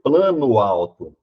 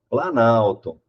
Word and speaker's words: Planalto: alteração no meu som eu não pronuncio plano alto aqui eu pronuncio plana alto então isso é uma